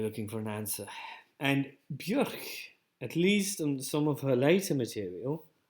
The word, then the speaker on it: Björk: It's as it's pronounced in Icelandic. Björk.